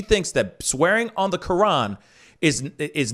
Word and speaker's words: Quran: Remember, I just said Quran. That's how you pronounce it. Quran.